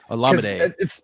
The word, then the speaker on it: Olamide: Olamide.